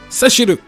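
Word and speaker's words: セシル: And Rosa comes out and says, Seshiru, which is how Cecil's name is pronounced.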